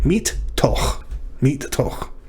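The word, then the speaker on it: מִתּוֹךְ: So we know that it's a dagesh forte. That means that it is doubling the tav, so the first of them will close our first syllable, meet, and then begin our second syllable, to. And then the question is that final consonant, chaf, another syllable? Well, the shava at the end of a word is always silent, so this chaf closes the second syllable. Meet, toch.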